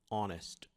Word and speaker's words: honest: Note que o som, não necessariamente a letra, a letra às vezes você tem uma palavrinha como honest e ela não é, o H não é pronunciado, é o, é o nós chamamos de letra silenciosa.